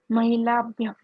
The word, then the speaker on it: महिलाभ्यः: Mahilabhyah. You have to pronounce the visarga also.